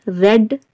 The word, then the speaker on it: red: But when we come to the second form and third form of the word read, then we pronounce it like red, red.